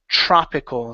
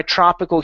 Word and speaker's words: tropical: poor tropical and sub tropical countries okay all right give me an a sound instead of tro TR go to an a open your mouth nice and wide in poor tropical